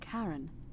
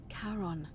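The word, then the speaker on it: Charon: The name you heard wasn't Karen. It was C H A R O N. As in Karon, the fairerryyman of the dead.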